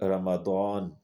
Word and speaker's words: رمضان: 9واں قمری مہینہ ہے۔ اس کا تلفظ یوں ہے رمضا، یعنی یہ را، میم اور ضاد تینوں مفتوح ہیں، جبکہ الف اس میں ساکن ہے، یعنی رمضان۔ یہ رمضا سے مشتق